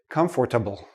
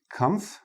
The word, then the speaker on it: comfortable: say all the letters I've heard many students say comfortable comfortable but native speakers we don't say this part we don't say the or we say comble and notice the last